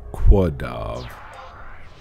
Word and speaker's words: Quadav: I've always pronounced it Kadav. But I've heard people say Quadav. Which I mean that's acceptable, but I don't know.